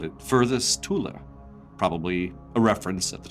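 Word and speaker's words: Thule: third raish was called Tula I'm using the German pronunciation it's t hu l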